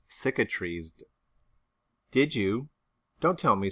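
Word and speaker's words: cicatrized: what is that word it is pronounced syca trees did you don't tell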